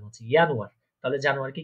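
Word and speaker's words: Januar: আপনি আমার সাথে সাথে প্রোনাউন্সিয়েশন করবেন, আমি একবার বলবো, আপনি আমার সাথে ওটা বলার চেষ্টা করবেন। ইয়ানুয়ার মানে হচ্ছে জানুয়ারি।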